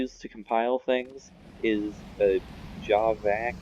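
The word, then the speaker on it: javac: command that you used to compile things is a job back it's pronounced read spelled j AV AC and it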